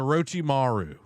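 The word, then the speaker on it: Orochimaru: He's a Rochi Maru.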